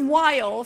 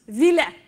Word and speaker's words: while: there's the key word while for a loop one of the kids said that it would be pronounced Vila we said no it's wrong you say while he said yeah but